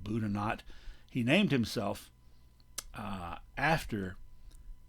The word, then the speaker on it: Boudinot: boudinot on the right now it looks like if you speak french that that should be elias boudinot he and his family pronounced it buddha not he named himself uh